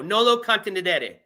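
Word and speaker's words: nolo contendere: It's Latin, which I already knew, but I didn't know how to pronounce it. It is, okay, hold on. Contenedere. There we go. Nolo contenedere.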